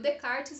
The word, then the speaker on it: Descartes: vai ter também o renew the cards né se escreve ali rené descartes mas se lembre catches né e o de karts ele vai é defender também essa questão do